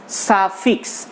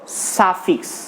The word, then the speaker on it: suffix: তাহলে আমরা কিন্তু দুটি মিলে একটি উচ্চারণ করব, সাফিক্স, নট সুফিক্স। সুফিক্স কেন না?